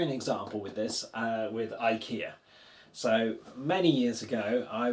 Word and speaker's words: IKEA: And this E should be the same as in elephant. So it should be air. So I should have asked for E IKEA. IKEA instead of IKEA.